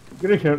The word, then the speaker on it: Griecher: It's Griecher. It's I first pronounced. I know. It's alright. Yeah, but Soccer makes the same mistake. He says E first before I.